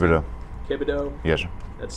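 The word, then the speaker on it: Kibodeaux: Kibido. Kibido? Yes, sir. That's spelled K-I-B-O-D-E-A-U-X.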